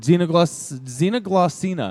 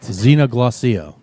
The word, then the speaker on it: Xenoglossia: Xenoglossina. Am I saying that correctly? No, not Xena the Warrior Princess. Damn it. Xenoglossia.